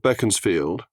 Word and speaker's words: Beaconsfield: disraeli first our love beckons field war Beaconsfield as he pronounced it 21st of December 1804